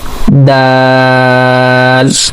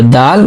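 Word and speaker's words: دال: Okay, so for pronouncing Dal, actually if you remember in the previous lesson we have done the origin of Ta. So origin of the Ta and Dal have a same origin and same articulation point.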